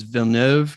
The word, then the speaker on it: Villeneuve: I think it's his last name is Villeneuve is how you pronounce it, but I just can't wait for that movie.